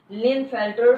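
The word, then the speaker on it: Klinefelter: यहाँ पे KLINE, that is के साइलेंट, लिनफेल्टर सिंड्रोम। तो ये क्रोमोसोम्स के जो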